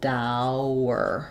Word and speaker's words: dour: So I would rewrite that like dour, and that might make more sense to the brain. Obviously, this confusion comes from how it's spelled, but yes, tower and dour have the same sounds with a different initial sound.